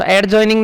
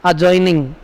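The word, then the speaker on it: adjoining: आपने कुछ फिगर पढ़े होंगे, एडजॉइनिंग फिगर, तो एडजॉइनिंग नहीं बोलते, उनको क्या बोलते हैं? अजॉइनिंग। क्या बोलेंगे उनको? अजॉइनिंग। क्योंकि ए और जे के बीच में अगर डी आता है तो उसको हमें साइलेंट बोलना होता है।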